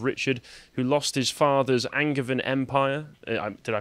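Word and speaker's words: Angevin: and brother of richard who lost his father's angervan empire did i pronounce that right yeah that's the the yeah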